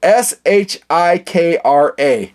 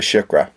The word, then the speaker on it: Shikra: No, it's Shikra.